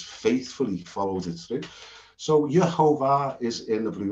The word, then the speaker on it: Yehovah: I used to have the habit of saying Yahovah, but it's undisputedly yeah.